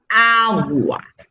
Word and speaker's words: agua: verdad palabra grave ej agua agua yo no digo agua yo digo agua pero no lleva tilde porque porque la palabra